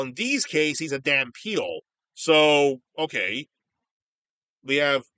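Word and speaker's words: dhampeal: I should say they also somewhat pronounce it Van Peel with a V, but it's pronounced Dan Peel with a D, which is really weird.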